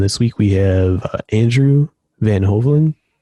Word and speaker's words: Van Hoveln: episode 14 and this week we have andrew van hoven right is that as i pronounce it yep that was pretty good actually